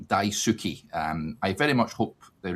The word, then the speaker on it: Daisuke: He says it's Daisuke, Derek, not Daisuke. So Daisuke.